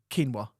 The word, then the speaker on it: quinoa: rice but it's it's quinoa okay yeah but it's spelled quoa so I used to be like oh yeah can you get me some quola rice P babe yeah do